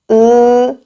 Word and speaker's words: ㅡ: 네 잘 알았습니다 그다음 모음은 의무입니다 5 5 으 입을 좀 걸리고 으 그렇죠 으 맞아요 를